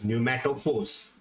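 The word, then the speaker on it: pneumatophores: type of roots which are also known as pumat Force okay let me spell it it is Neu m a t o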